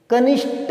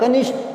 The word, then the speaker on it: कनिष्ठ: चलिए, कनिष्ठ नहीं होता, कनिष्ठ होता है, ठे, ठे, कनिष्ठ होता है।